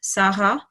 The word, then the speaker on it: Sarah: okay to be honest the French people with their accent will pronounce her name slightly differently like the French version of Sarah is like Saha make a robot roll